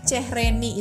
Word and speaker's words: çehreni: Kemudian ada lagi Cehreni. Itu kan C yang ada ekornya bacanya C. Cehreni.